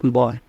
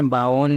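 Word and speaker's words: বোন: बहन को बोला जाता है बॉन। बॉन कैसे लिखते हैं इसको? बॉन, ठीक है। बावन या बॉन कुछ ऐसे प्रोनाउंस मत करना, बोर्ड, ठीक।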